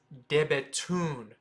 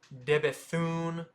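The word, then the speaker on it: De Bethune: go check them out it's debaton not deun it's debaton debaton so again go check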